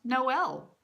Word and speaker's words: Noel: dumb I learned that Noel is pronounced Noel it doesn't ride with Joel I anyway I've been